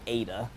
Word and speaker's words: eta: do get another system it'll be eta it looks like an h but it's eta as i you spell